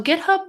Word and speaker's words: GitHub: Is that a hard G or a soft G? GitHub is a hard G.